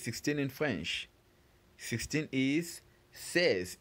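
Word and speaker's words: seize: meanwhile 16 is spelled which it says remember is spelled s e i z e says and after says we have 17 which is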